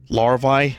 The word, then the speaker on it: larvae: Larvae? Larvae? Why can't I figure out how to pronounce that?